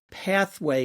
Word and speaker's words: PATHWEIGH: Uh I'll just uh note for our listeners since uh they are listening, pathway in this case is spelled p a t h w e i g h, pathway.